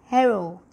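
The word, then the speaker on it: héros: sorry a hero basically in french is pronounced with the h so this is an example of a word let me highlight it to make things easier so this one is pronounced with the edge because it begins with h aspirated so it is pronounced as hero okay whereas the feminine version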